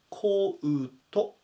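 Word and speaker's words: coat: なりますコートっていう単語は発音はこうとですねうを入れて読んで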